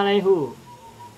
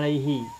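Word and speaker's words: عليه: ilmu bacaan qat qirat secara teori ilmu Nahwu alaihu itu tidak ada yang benar adalah Alaihi alasannya adalah karena huruf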